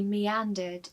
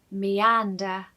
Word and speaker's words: meander: AN in this word is said very loudly. So, meander, meander.